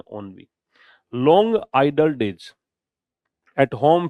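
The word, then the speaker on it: ennui: अगला है ओनवी, प्रोनाउंसिएशन क्या है इसका, ओनवी, एनयूवी नहीं है, ओनवी।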